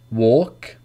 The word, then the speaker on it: walk: Calm, half, talk, walk, would, should, could, calf, salmon. So these are examples when the L is not pronounced.